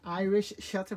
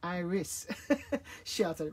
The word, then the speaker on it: iris shutter: used to saying irish so it's not an irish shutter but it's an iris shutter but that's a little